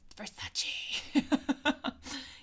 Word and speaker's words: Versace: It's pronounced Versace.